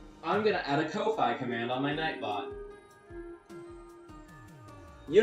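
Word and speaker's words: Ko-fi: It's called Kofi, but I think it's supposed to be pronounced coffee, but it's spelled K O- Fi.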